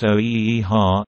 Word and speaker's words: OEHHA: The Office of Environmental Health Hazard Assessment, commonly referred to as OEHHA, pronounced OEHHA, is a specialized department